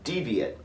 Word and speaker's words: deviate: As a noun, the word is pronounced deviate, and it means one who strays from the norm.